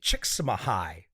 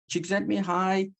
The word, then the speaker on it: Csikszentmihalyi: Michael Csikszentmihalyi. Not a bad pronunciation, huh?